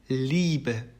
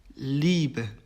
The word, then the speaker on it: Liebe: 이것도 이제 뭐 단장음의 차이일 수도 있고 아닐 수도 있지만은 어쨌든 이거는 그냥 우리가 생각하는 대로 발음은 이라고 합니다. 그래서 예시를 들어보면 Liebe, Liebe, Familie, Familie 이렇게 되죠.